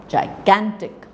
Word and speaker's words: gigantic: it is stronger so a word like gigantic you know so the second syllable is more prominent than the first first and the third syllable so this is a tri syllabic word so gigantic so the Gan part